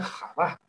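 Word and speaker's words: חוה: latín decimos eva pero en realidad el nombre de ba se pronuncia java java y serpiente en arameo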